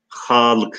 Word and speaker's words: Halık: Halık ise h'dan sonra bir elif ile. Halık zaten telaffuza dikkat ederseniz h'yı uzatıyoruz. Evet, Gülcan Hanım ne demiş?